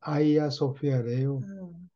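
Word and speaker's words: Hagia Sophia: 증축을 했던지 하여튼 그거를 아이야 소피아라고 그래요 소피아로 적혀 있는데 하여튼 발음은 그 터키 사람들 발음으로 하면 아이야 소피아래요 그런 기독 비자한테 제일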